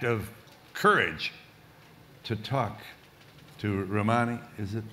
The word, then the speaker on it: Rouhani: And it took a brave act of courage to talk to Rouhani, is it pronounced? On the telephone. Rouhani, yes.